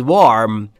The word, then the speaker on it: warm: the room was warm. بچه دو تا دبلیو داریم، تلفظاشو دقت کنید، لبهاتون رو حالت بوسه ای آها بوس بوس.